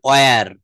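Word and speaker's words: where: আচ্ছা, তো আমরা হয়ার এর ভিতরে ছিলাম, দেখেন আমি যে হয়ার বলছি, আসলে কি এটা হয়ার হবে? এটা গত ক্লাসে দেখিয়েছিলাম। ইয়েস, এটা বলতে হবে অয়ার, অয়ার।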